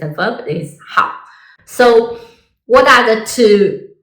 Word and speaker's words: 好: This Chinese character has several meanings and several pronunciations. So when you use as adjective, it is how means good.